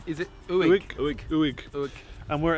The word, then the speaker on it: Uig: Uig. So it's U I G. Is it Uig?